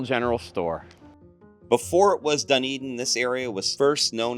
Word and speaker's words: Dunedin: In Gaelic, it's pronounced Dunedin, meaning hill fort of Eden.